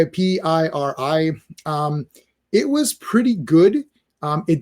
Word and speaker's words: Piri: That's how you say it, Piri.